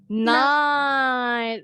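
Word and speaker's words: knight: Night. The same way when you pronounce malam in English, night.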